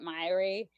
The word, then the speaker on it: Myhre: This doctor that I was just talking about and the Myhre Syndrome Foundation pronounce it Myhre, but there's a bunch of different ways, especially